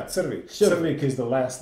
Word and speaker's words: Crvik: The winery is called Crvik. Did I pronounce it correctly? Almost, yeah, Crvik.